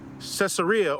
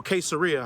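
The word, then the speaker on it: Caesarea: So right away the Cesaria or Queseria, however you want to pronounce it, you say tomato, I say tomato, is located on the eastern bank of the Mediterranean Sea along Ashdoderia.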